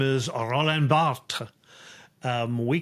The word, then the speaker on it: Barthes: His name is Roland Barthes. We call him Roland Barthes. I was going to say, I don't know how to spell that.